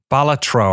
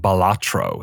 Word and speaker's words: Balatro: balatro have I been saying it wrong this whole I've been emphasizing the uh I've been saying balatro is is a balatro the official is that Canon you can say it however you want to say it the way that I say it is not the correct way